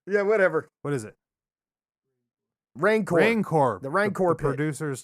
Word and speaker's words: Rancor: Ragnar pit or Ragnar or Reknar or Jeknar or Jacknar, Jackknife. Yeah, whatever. What is it? Rancor. The Rancor pit. The producers told us the Rancor pit.